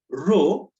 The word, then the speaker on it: rho: specific resistance resistivity so this is how to pronounce it rho this is what part constant of proportionality and